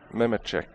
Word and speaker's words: Mehmetic: Is that how you say his name? Yeah. Mehmetic? Mehmetic, yeah. Pretty close to Nemechek.